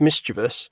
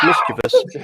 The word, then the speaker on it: mischievous: apart from the word mischievous which is pronounced mischievous not mischievous i'm gonna say this here and now everybody it's never mischievous i know now everyone's